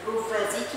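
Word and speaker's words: prowazekii: حاجه اسمها ريكيتسيا بروفازيكي لانها الماني شكلها عكس الماني فالدبليو زي البولكس فاجيا كده دبليو بتتنطق بالالماني بي. ريكيتسيا بروفازيكي دي بتعمل حاجه اسمها ايبيديميك تايفوس.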